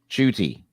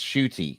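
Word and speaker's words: Ncuti: from 2020 yes yeah yeah how did you pronounce his first name judy i thought it was i thought it was i thought it was shitty that's shooty okay i think uh colin oh sorry uh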